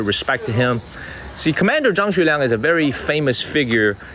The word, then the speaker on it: Zhang Xueliang: His name is Zhang Xueliang in Chinese. So try to pronounce that in English. Zhang Xueliang.